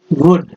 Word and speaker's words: would: and mister पर्सेल्स himself वुड, इसमें L silent है, वुड smile and briskly